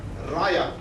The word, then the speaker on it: Raja: It is written Raja but pronounced Raya.